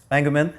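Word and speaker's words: Spengemann: How do you pronounce his last name? Spangeman.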